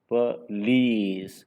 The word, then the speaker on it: police: Yeah, don't make it like a consonant cluster, then it become please.